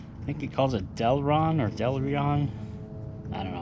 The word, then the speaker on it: Delrin: upgrade to the truck we're gonna put in delron that's how you pronounce it uh power steering rack bushings uh